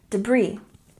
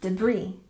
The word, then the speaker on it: debris: good and number five debris again we don't say the s sound in this word and we stress the second syllable debris debris debris and number six etiquette